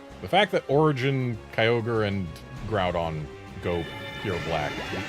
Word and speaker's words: Kyogre: We don't pronounce this Kai Ogre. At least we wouldn't. Unless there was a space or an apostrophe between the Y and the O.